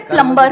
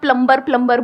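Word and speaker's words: plumber: सर जैसे प्लम्बर, करते हैं। सब लोग प्लम्बर बोलते हैं हमारे देश में, बढ़िया है यार, क्या दिक्कत है? बी साइलेंट है उसमें। प्लम्बर ही तो होता है।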